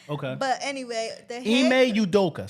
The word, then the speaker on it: Ime Udoka: His name is Ime Udoka.